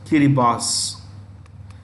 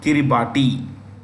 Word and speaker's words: Kiribati: Kiribati. In their local bhasha, it is pronounced Kiribati. हमको कहना है Kiribati.